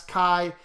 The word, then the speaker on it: chi: little curvy this part is straight so that's chi and then we call it chi squared um you know some people just write that symbol right here and it's pronounced chi squared some people just put chi squared right they